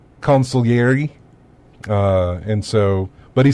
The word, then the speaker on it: consigliere: the way it's it's Daniel Phelps which I pronounced it as consigliere yes but it's not he said it's supposed to be pronounced consul iary and so but he said I pronounced it